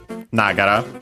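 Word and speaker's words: ながら: Yeah, technically it has an accent on the na itself, so the word itself, Nagara, so high, low, low.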